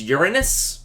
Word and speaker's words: Uranus: yay for for jokes I'm going with Uranus though technically technically neither of those is probably the accurate pronunciation like the real accurate pronunciation in the language